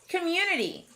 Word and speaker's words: community: our next word is community i see a closed syllable c-o-m but it doesn't sound like a short o community that sneaky schwa is showing up again we can handle